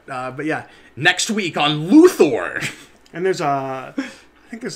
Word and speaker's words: Luthor: It's not Luther, it's okay, Luthor. You're right. You just have to put the emphasis on a different syllable.